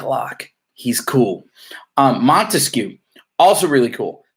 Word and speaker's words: Montesquieu: Our memory clue in class for Montesquieu was 3 syllables. Montesquieu, 3 branches.